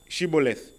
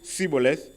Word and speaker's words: Shibboleth: If he replied no, they said, "All right, say Shibboleth." And if he said Sibboleth, because he could not pronounce the word correctly, they seized him and killed him at the fords of the Jordan.